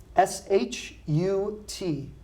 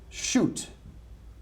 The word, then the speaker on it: shut: and it is shut SH UT shut this verb we do not pronounce shoot okay I want to